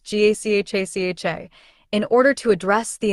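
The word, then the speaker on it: Gacaca: In 2001, the government began implementing a participatory justice system known as Gakaka, pronounced GACHACHA, in order to address the enormous backlog of cases.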